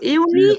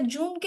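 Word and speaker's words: Juni: না সবাই হ্যাঁ আপু ইউনি ইউনি হ্যাঁ এটা জুনকে আমরা বলবো ইউনি কারণ এখানে ইয়ট আছে যেটাকে যেটা কিনা ইংরেজিতে যে বলে সেটাকে আমরা ডয়ে ইয়ট শিখেছি এজন্য উচ্চারণ সেই অনুযায়ী ইউনি হবে আর জুলাইটা কি বলেছি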